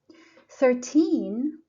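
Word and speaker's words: thirteen: so the stress is on the first syllable 13 the same second syllable 30 first syllable 17 70.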